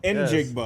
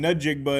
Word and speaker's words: Njigba: want to do Injigba. Enjigba. I kept saying Njigba and I knew it was wrong.